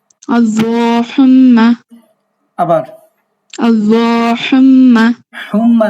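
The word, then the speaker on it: اللّٰهُمَّ: আল্লাহুম্মা। আবার আল্লাহুম্মা। হুম্মা না, এটা হচ্ছে ধাক্কা দিয়া হা।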